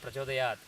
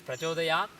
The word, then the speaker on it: prachodayat: I say prachodayat, you can't tell whether the last consonant that I am pronouncing is k or t or n, whether it's prachodayat or prachodayat or prachodayan. You can't really make out from my pronunciation because vowel is the life of an akshara.